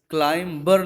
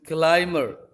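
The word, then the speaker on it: climb: 20 silent होता है ऐसे क्लाइंब ये रोंग प्रनंसीएशन है क्लाइंब ये राइट प्रनंसीएशन अभी साइलेंट होता है तो जो हम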